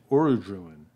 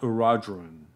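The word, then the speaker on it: Orodruin: I have always pronounced it Aradruin, not Aradrun.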